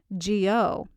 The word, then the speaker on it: Jio: So if you're verbal like I am, it's Wahe, W-A-H-E, Guru, G-U-R-U, Wahe, W-A-H-E, Jio, J-I-O. I'm sure you'll find other spellings out there. People are just phonetically trying to make it match how it sounds, but it's Wahe Guru Wahe Jio.